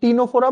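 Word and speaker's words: Ctenophora: সি উচ্চারণ হয় না, হ্যাঁ, টি দিয়ে উচ্চারণ হয় টিনোফোরা।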